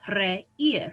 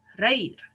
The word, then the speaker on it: reír: The same with reír. We don't say, I have to think about this, reír, right? We say reír.